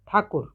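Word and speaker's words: ঠাকুর: the author rabindra tagor in Bengali it is pronounced as rabindra takur he was born on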